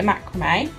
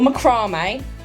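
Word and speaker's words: macramé: Made a macrame or macrame, depending on how you say it. I say macrame, which I get told off. I'm told that I'm wrong by my family.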